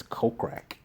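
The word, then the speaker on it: Kokrak: pronounce his name right I think it's coke crack coke sounds like crack but anyways he pops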